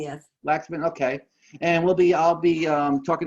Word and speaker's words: Waksman: Waksman? Did I say it right? I don't know. Did you say it? Waksman? Waxman, yes. Waxman, okay.